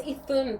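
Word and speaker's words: Iðunn: Right, this energy of Ithun, okay, and it's because I had to really, it's Ithun, but it's spelled, when you see it, it may look like Idun.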